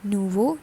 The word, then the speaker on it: nouveau: becomes nouveau so to complete it it is nuvo nouvelle nouveau nouvelle okay next is john john